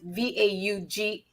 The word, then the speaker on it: Vaughan: Well, I thought it was Vaughn, but it's Vaughan.